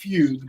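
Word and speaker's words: fugue: yes it is pronounced fug because it is German not Italian I'll say this episode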